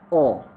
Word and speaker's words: or: अब ये जो OR और है इसकी प्रोनाउंसिएशन है ओ। नेटिव स्पीकर इसको पढ़ते हैं ओ।